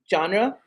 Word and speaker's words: genre: Franchises can be in any genre.